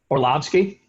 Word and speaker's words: Orlovsky: Dan or Dan Orlovsky or how do you pronounce it Orlovsky yeah we might get him on Saturday I